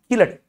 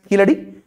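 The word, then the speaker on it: Keezhadi: is pronounced written as kijdi but it is pronounced as killer okay it is written as easy because in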